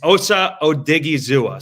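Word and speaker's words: Osa Odighizuwa: I just looked up the Cowboys pronunciation guide. It's Osa Odigzua.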